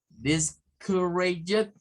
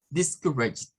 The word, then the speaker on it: discouraged: Una pronunciación en donde se utilizan dos schwas, discouraged, yeah. Discouraged. ¿Cómo pronunciaríamos esto? Lo vamos a pronunciar como couraged, ¿verdad? Y le agregamos discouraged, ¿verdad? O una pronunciación con en vez de dos schwa, con una I en medio, con una I corta, que es como la segunda que está ahí. La más frecuente es la primera.